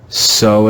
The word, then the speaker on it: sew: pronounced cu like few here the digraph e w is pronounced just like the latin letter o this word is so so like sew a seam to use